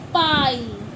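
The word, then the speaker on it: pie: तो ई की ई साइलेंट हो जाता है। ई की वॉइस नहीं मानी जाएगी। आई को हम आई ही पढ़ेंगे।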